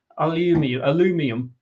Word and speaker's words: aluminium: 25% on steel and what do the Americans call it? Aluminium is how it's pronounced.